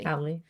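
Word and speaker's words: Halle: halil uh haly hiy hi hi hi is how you say it I didn't read that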